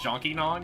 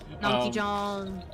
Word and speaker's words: Nonky Jong: ended up listening to Jonky Nong, and now my brain's derailed. Because I'm just thinking about Jonky Nong. Nonky Jong. Yes, Nonky Jong, thank you. I keep getting his name wrong.